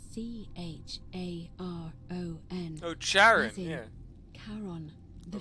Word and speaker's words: Charon: The pronunciation is a little off. The name you heard wasn't Karen. It was C-H-A-R-O-N.